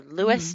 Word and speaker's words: Louis: ah at the end but she's only her Lewis not Louis for Saint Louis so what do y'all think